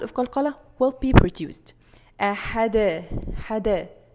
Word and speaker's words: qalqalah: Okay, next common mistake here, ending sound of qalqalah with hamza. الفلقاء, فلقاء. No, there is no hamza.